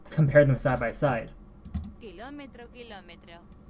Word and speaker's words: kilómetro: When we don't, when we pronounce things, we like to de-stress certain things to make it flow better.